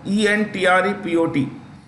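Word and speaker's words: entrepôt: The United Arab Emirates, because it's the UAE is usually considered an entrepot trade, spelt entrepot, E-N-T-R-E-P-O-T, E-N-T-R-E-P-O-T. That's a, you know, the spelling, but it's pronounced entrepot, which means a go-between port.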